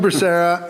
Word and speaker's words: Becerra: Did I pronounce that perfect, properly? Becerra. Becerra, and this guy is another of the $1